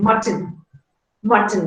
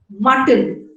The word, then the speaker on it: mutton: So there are two syllables, and in the second syllable, the consonant is T and N is a syllabic consonant. It acts like a nucleus and it is called a contoid.